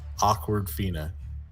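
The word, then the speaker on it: Awkwafina: uh number two uh it's how it's spelled a w k w a f i n a awkward Fina shot so I don't know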